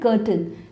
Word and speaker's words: curtain: remember, do not make this mistake, its correct pronunciation is kur-tn, there are also shower curtains here Let's move